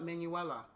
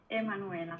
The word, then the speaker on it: Emanuela: Do they pronounce the E or they just call it Manuela? No. Emanuela.